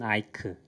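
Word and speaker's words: Eich: 이분은 많이 알려지시긴 했는데 브랜든 아이크. CH가 크로 끝난다고. 그리고 이제 에츠허르 데이크스트라.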